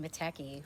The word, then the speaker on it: Mateki: It's either Mateki garlic, I would say, if it's Italian. I'd say Mateki. Okay. Yeah. Mark says it's Mateki, so I'm going to call it Mateki because Mark said so.